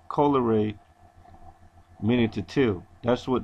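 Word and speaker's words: colere: tended to cultivate from the um the proper pronunciation Coler meaning to tell that's what the word means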